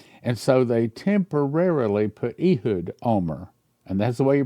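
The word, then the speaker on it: Ehud Olmert: And so they temporarily put Ehood Omar. And that's the way you pronounce his name.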